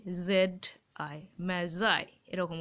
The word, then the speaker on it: Magi: gift of দা ম্যাজার এই উচ্চারণটা কিন্তু ম্যাগি নয় যেটা খাও সে উচ্চারণ করে দিও না ওটা ডবল জি থাকে দেখবে ঠিক আছে এই উচ্চারণটা উচ্চারণটা হবে অনেকটা এরকম এ এ জেড আই ম্যাজাই এরকম উচ্চারণ ঠিক আছে